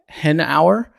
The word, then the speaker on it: Hanauer: Kwan I'm joined today by Dr uh Scott henour I pronounce it correctly you did um he is